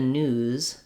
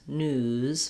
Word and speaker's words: news: z sound is that we hold the vowel a little longer so when i'm saying it was in the news news my ooh is going